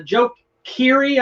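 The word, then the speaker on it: Keery: was like yeah uh joe keary i guess is how you say his name right uh he is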